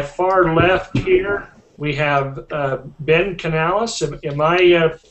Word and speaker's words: Canales: But anyway, to my far left here, we have Ben Canales. Am I pronouncing the last name right?